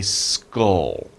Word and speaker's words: skull: this bone a skull now that's a little hard to pronounce right SK and ll at the end SK SC SC and L L just so and we have the U skull skull so we say that word as skull now a lot of